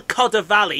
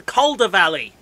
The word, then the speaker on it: Calder Valley: it's not the kodi it's not the koda valley it's the calder valley yeah it's not bloody